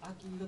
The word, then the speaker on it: 秋彩: けども、秋、秋で彩ると書いて秋色と読みます。